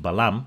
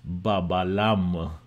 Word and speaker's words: balam: This is not pronounced Ba-Ba-Lam. This is pronounced Balam.